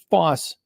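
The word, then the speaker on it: Fauss: If you listen to the Johnny Cash great song for it, you will know it is pronounced foss as in boss and big hoy, not howy.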